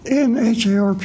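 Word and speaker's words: NHARP: advanced research program uh that's an in-harp is unpronounceable so we pronounce our acronym in harp anyway this program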